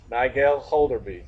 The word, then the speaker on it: Nigel Holderby: And I'm going to say her name right, even though she's told me a million times. Nigel Holderby.